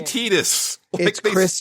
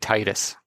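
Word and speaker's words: Tidus: pronounce the guy's name it's canonically tetus swear in commercial I swear in the commercial for the game he said Titus I I've heard it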